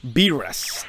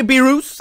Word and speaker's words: Beerus: I used to say Beerus. I know. I know. I was wrong. That was my fault. But now I'm saying it's beer. Us. It's like beer.